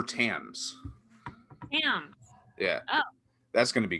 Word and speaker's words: Thames: river timbs or tame it's tim's right it's tames oh i mean i thought the british people said tim no i don't know here uh give me one second let me mute myself your pronunciation youtube no my sister knows okay i'm gonna mute myself real quick okay well i'm gonna look it up it is the river tams yeah that's going to